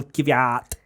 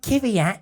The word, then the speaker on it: Kvyat: It's not Kvyat. It's Kvyat. Oh no, never say that. Caveat. We're allowed to pronounce things differently. That is one Come of my on. triggers, actually, What is? when they try and pronounce. Because I think it Caveat. was Ted made a really good point that no one calls Michael Schumacher Michael Schumacher. Yeah. Or Sebastian Vettel. Yeah. So just Danny Kvyat.